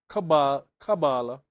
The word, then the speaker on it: Kabbalah: Kabbalah or Qubala, Hebrew, Romanized, Qubala, pronounced Kabbalah, reception, tradition, is an esoteric method, discipline, and school of thought in Jewish mysticism.